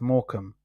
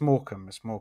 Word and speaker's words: Morecambe: It's pronounced Morecambe. But anyway. Now, you said Morecambe, which is very different. The way what he wrote is pronounced completely different, though. Yeah, it's Morecambe.